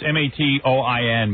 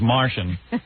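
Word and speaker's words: Matoian: Looks like it's Matoin, but I think it's pronounced Martian.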